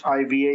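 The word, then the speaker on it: Khiva: The highlights of Uzbekistan are the cities of Hiva. It's spelled with a K, but the K is silent, so it's Hiva is how you pronounce it.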